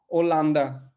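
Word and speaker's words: Holanda: एच, लेकिन यहाँ पे एच जैसा कोई एच जैसा कोई उच्चारण नहीं है, तो अगा, अगा। और मान लीजिए जैसे हॉलैंड है ना, हॉलैंड को पुर्तगाली में हम क्या बोलेंगे? ओलांदा।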